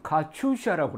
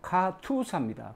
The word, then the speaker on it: KATUSA: 근데 이 발음을 보통 가출시라고 합니다. 가출시는 톨스토이가 쓴 부활이라는 소설의 여자 주인공이죠. 근데 정확한 발음은 가투사입니다. 가투사.